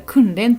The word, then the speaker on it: 訓練: るっていうのがこれれで訓練これ訓練と読みます訓練はトレーニングの